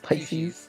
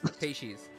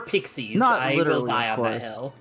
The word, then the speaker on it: Pisces: know there's like six pronunciation as far as I'm aware all of them are correct yeah except for Pixies I will die on the hill I will die on the hill Pixies is objectively wrong I say Pisces